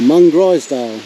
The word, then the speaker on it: Mungrisdale: Here we are at Mungrisdale, or Mungrisdale as I have been reliably informed it's pronounced.